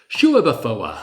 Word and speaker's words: Schueberfouer: Shouafa. It's like every syllable is sacred and deserves to be heard.